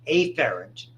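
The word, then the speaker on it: afferent: it's basically either incoming a ferent we pronounce it a FF R NT or eer for outgoing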